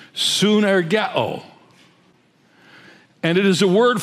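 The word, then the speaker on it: συνεργέω: This expression translates a word in the Greek language which is pronounced synergeo.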